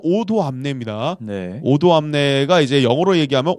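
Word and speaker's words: Odoamne: 오도 그니까 담네 그 저희는 계속 담라 하는데 어 실제 발음은 오도암네 오도 암내가 이제 영어로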